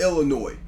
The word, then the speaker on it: Illinois: It's pronounced Illinois. So it ain't Illinois. It's Illinois. Chicago, Illinois.